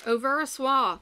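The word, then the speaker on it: Au Ver à Soie: these are my silks over a soi i found is the actual pronunciation and if you knew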